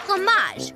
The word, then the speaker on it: fromage: It's pronounced fromage, with the R in the back of the throat.